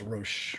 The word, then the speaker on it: Roche: It's not Roach. It's a different way to pronounce it. It's Roche. It depends on who you are, what country you're from.